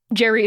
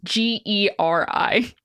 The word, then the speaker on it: Geri: Jerry is not spelled the same way the English name is, and I'm pretty sure that's right, but it's Geri.